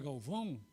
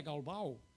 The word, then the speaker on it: Galvão: Prazer, meu nome é Galvão, né? Lá era Galbal, meu nome é Galbal, porque não se pronuncia o tio lá, né?